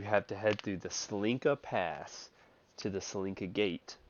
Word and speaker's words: Tsolenka: No, sorry, TSOLENKA. It's pronounced Tsolenka.